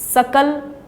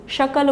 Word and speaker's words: सकल: प्रयोग किया जाता है तो एस उसमें दंतिया शहर डेंट के पीछे jimbha लगाकर एस बोला गया जैसे की स्कूल में सब बोलते हैं ऐसे ही हमें शकल में बोलना था परंतु शकल बोल दिया तो शकल का अर्थ